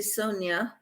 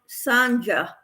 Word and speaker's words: Sonia: name is weird because most people say Sonia but my dad when he named me pronounced my name as Sanja just like jumper Jack